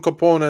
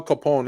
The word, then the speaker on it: Copone: just go to drone Capone and then I'll see all those um he spell it c o p o n e so it's like coone so drone Capone yeah c o p